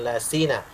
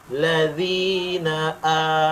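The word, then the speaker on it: الذين: panjang empat harakat ya ya ayyuhalladzina dzi ladzi bukan Laina ladzina amaniru langsung masuk dua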